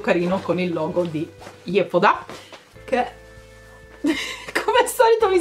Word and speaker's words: Yepoda: Poi altro pacchettino, questo è di Yepoda, che in realtà so che in coreano si pronuncia Yepoda, Yepoda più o meno, ok, mi sono informata.